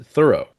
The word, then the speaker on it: Thoreau: I know he had Toltoy and Toltoy was directly influenced by thorough. Sorry I'm saying it wrong. This was part of my biggest surprise. His name is pronounced thorough like the word thorough.